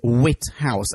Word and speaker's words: Whithouse: Did you say his name is Whithouse, as in the house of wit? Yes. Wit. With an H.